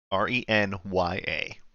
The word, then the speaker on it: Renya: wait how do I say her name again renya renya r-e-n-y-a renya nuts in D's mouth okay um anyways